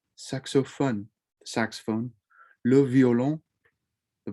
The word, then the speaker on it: saxophone: lu saxophone le saxophone remember with that french oh it's not phone it's fun suck so fun the saxophone love yolo